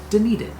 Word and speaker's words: Dunedin: and we found out from locals it's called Dunedin it's a Scottish in a Scottish heritage I'm